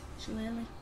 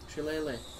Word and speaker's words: shillelagh: It's an E sound at the end. Shillelagh. Shillelagh.